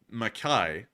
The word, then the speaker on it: McKay: And Avari Mandabra said McKay is pronounced Mackay. Mackay. Oh, that's weird, because the reenacting group always said McKay, so I just went with McKay.